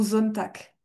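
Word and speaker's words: Sonntag: Pareil pour Zonack.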